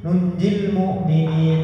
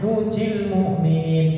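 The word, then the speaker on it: نُنجِي المُؤمِنِين: Juz 17 itu ada nunjil mu'minin, tapi dibacanya nujil mu'minin, salah.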